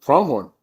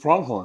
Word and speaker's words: Pronghorn: Tell me how you pronounce it. Pronghorn. Just Pronghorn. Just Pronghorn.